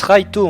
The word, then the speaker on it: Light: Laito Yagami. Laito Yagami. Le nom du héros se prononce Raito en japonais mais c'estécrit light.